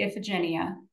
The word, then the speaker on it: Iphigenia: Well, there's a lot of ways to say her name. I say Iphigenia. Iphigenia.